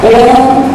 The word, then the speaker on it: Om: There is nothing religious about Om chanting, because when it gets adapted in the yoga class, Om is having 3 syllables, U and Ma.